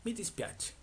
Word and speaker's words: mi dispiace: Entonces, la primera se dice mi dispiace. Mi dispiache, que significa lo siento, perdón, no.